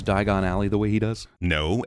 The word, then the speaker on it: Diagon Alley: The English pronunciation is a homophone of the name Ellie, hence this scene.